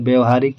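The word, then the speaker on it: व्यावहारिक: अगला क्वेश्चन है कि व्यवहारिक रूप से आपकी बात ठीक हो सकती है, तो व्यवहारिक यानी व्यवहारिक, इसका सही उच्चारण ये हमारा ए हो जाएगा।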